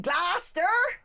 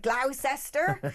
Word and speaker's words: Gloucester: don't know they don't you can always tell the tourist in glosser because they'll be like glester and then Siler and